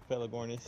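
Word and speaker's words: Pelagornis: you said it right too by the way feligornis yeah i know uh like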